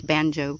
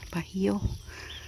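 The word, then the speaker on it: Bajío: I always say it's banjo because B-A-J-I-O. But I guess if you pronounce it right, if it's Spanish, Bajo.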